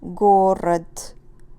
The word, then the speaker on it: город: If we end this word, which of course you know, city, город, if we have d at the end, d is voiced, so it will become город, pronounced like t.